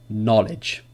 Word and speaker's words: knowledge: So K is not pronounced when it comes before an N at the beginning of a word. Examples. Knife, knee, no, knock, knowledge.